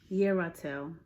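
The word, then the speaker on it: Yerathel: So how you pronounce this is Yeratel, the preventing God.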